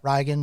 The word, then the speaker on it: Riagan: My real name is Rigan. Like, how would you spell that? Riagan. Okay. Rigan. It's the Gaelic Irish pronunciation of Reagan.